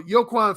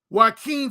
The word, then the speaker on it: Joaquin: and sexually is okay i pronounced his name that brother peter joe says joaquin i've had people before i said i've mispronounced it so yeah okay thank you brother peter joaquin phoenix he um a